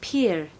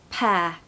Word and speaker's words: pear: mispronounced all the time I hear it being said as Pier peer it's not it's like the word hair with a p so hair Perth there's no R so let's do the pronunciation tip first there's no R you just want to say it like the word hair or air and it sounds like that pear so in the summer